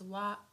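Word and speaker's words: は: So although here this is hiragana ha but sometimes we pronounce it as wa wa.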